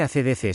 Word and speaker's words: AC/DC: El nombre ACDC se pronuncia por deletreo, en inglés, AC/DC, en español, ACE/DCE, y ha inspirado a numerosas bandas tributo.